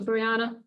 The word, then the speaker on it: Breanna: Let's turn it over to Breanna. BREANNA : It’s Breanna. BELINDA PETTIFORD: Thanks Breanna, oh I'm sorry for mispronouncing your name, I should know that.